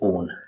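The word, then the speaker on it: -one: तो अगर ऐसा होगा कंपाउंड के अंदर, तो हम जो है सफिक्स क्या यूज करेंगे यहाँ पे, ओन, ठीक है बच्चों, ONE। इसे वन नहीं प्रोनाउंस करते हम लोग, ओन ही प्रोनाउंस करते हैं, ठीक है।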